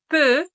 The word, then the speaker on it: peux: il elle peut si attention la prononciation on va dire eu eu je peux tu peux il elle peut oui c'est la même prononciation nous pouvons vous pouvez